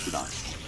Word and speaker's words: boudin: And it's spelled Boudin, but it's pronounced Boudin.